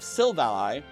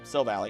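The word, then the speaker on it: Silvally: Speaking of the power of Archus, the memories of Silvali or Sil Valley, I think it's pronounced Silvali and I always mess that up, are meant to mimic the plates of Archus through the RKS system.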